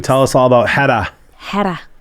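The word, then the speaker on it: Héra: Hedda, which is hard to say, but it's spelled Hera.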